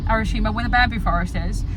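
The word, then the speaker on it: Arashiyama: When you went to Arashima, that's the correct pronunciation. Arashima, where the bamboo forest is, there is a lake there, and it is so picturesque.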